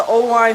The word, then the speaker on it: Oelwein: Owine is spelled Oelwein.